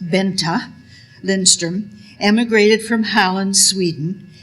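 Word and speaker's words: Bengt: B E N G T pronounced Benta Lindstrom emigrated from Halland, Sweden in 1889.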